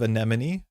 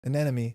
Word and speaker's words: anemone: Is it just me or do I hear an enemy instead of anemone library? I think I say an enemy. No, I say anemone. Anemy. I say anemy. I say it wrong.